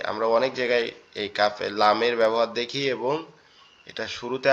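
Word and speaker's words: لام: লামের উচ্চারণটা মূলত জিহ্বার আগা উপরের তালুর সাথে লাগবে, জিহ্বার আগা উপরের তালুর সাথে লাগবে, লেগে একদম নরম আওয়াজে উচ্চারিত হবে, লাম, লাম, লাম, এরকম ভাবে আওয়াজটা আসবে।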